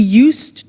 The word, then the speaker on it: used: He used to give only dogs, and he used to eat Italian cake at Christmas. Now, this verb used to, well, it's written U-S-E-D, but the pronunciation is used, and we'll see that on the screen later.